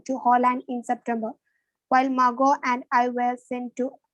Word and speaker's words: Margot: my sister marcotte was born in germany the tea is silent margo was born in frankfurt in germany in 1926.